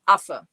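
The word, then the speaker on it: Affe: And so yeah, you pronounce it af.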